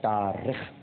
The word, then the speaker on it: تارخ: بچے کو جنم دیا۔ طارق نہیں، تارخ۔ اس کا ایک تلفظ تارخ بھی ہے، لیکن جو البدایہ والنہایہ میں علامہ ابن کثیر نے لکھا ہے وہ تارخ ہے۔ اس بچے کے چہرے